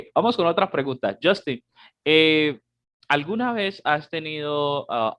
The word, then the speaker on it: Justin: am, bueno, en este momento estoy pronunciándolo porque estamos hablando español, Justin. Así es como nosotros, los hispanos o los latinos, pronunciamos Justin. Ok, no Justin porque ese ya es americano.